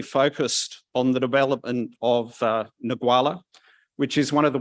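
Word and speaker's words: Ngualla: And I'm going to let you pronounce the name of the start. Go on, just once for me. Nagwala.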